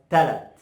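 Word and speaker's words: تلات: something, it goes like, it comes to convert it to as talat. Talat. Why I did here is just remove the ha sound at the end.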